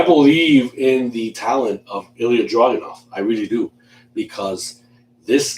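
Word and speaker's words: Ilja Dragunov: Walter, the leader of Imperium, will defend his NXT UK championship against Ilya Dragunov. I said it right this time. Yes. I pronounced it right this time.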